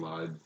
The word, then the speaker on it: Lied: Pronounce it Effin Lied, but it's Lied because it's German.